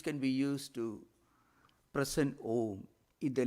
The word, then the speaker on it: Om: So Onkara is normally pronounced as a long elongated vowel. Om, that is pronounced.